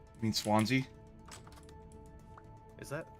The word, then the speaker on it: Swansea: what yeah he knew exactly how to drug sansia mean Swansea is that how do you pronounce that yeah Swansea Swansea ohia yeah I